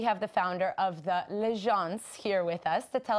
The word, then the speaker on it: L'Agence: Okay, so the name is L'Agence. L'Agence, yes. In French, I'm assuming. It's in French, yes, it's in French.